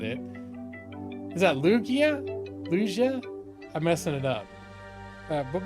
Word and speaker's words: Lugia: It wasn't Luigi, I know that. Lugia. It's Lugia? That last one?